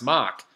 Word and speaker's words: Mark: Yes, the last time we were on a show, Mark says, so my New England name is pronounced Mock.